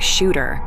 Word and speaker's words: Shudder: Technically, it should be pronounced like Shooter, but in this province, folks say it like Shudder, and he didn't know any different.